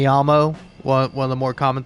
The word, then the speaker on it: llamo: be Escuella, you know, because in Spanish the double L is pronounced like a Y, say me llamo, one of the more